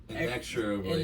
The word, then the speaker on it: inexorably: Oh, inevitably and Inexorably.